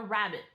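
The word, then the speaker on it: rabbet: that we're building so the first one is a rabbit okay this is not the little thing that topped through hop hop along bunny rabbit but maybe shows up at Easter instead it's spelled a little differently r-a-b-b-e-t and it is a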